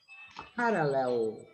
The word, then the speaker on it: parallel: Yeah, the end is like pencil, Pencil. right? Ahí está. Pencil. Oh. It, you even retract the jaw. When you say parallel, you retract the jaw. Your jaw goes back.